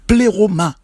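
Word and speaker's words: πλήρωμα: En grec, le mot plénitude se prononce pléroma.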